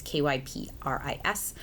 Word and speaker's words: Kypris: Kypris, I believe is how you say it. It's Kypris.